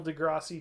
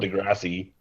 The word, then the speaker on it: deGrasse: It's I'm, just DeGrasse. It's not Degrassi.